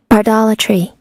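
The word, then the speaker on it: bardolatry: So, let's hear how it is pronounced because it's Shakespeare at the end of the day. Bardatry.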